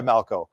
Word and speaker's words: Malchow: And that's because it's a German name. And of course, Germans kind of have that throaty pronunciation. And so it's kind of a blend between the two, but I go by Malchow.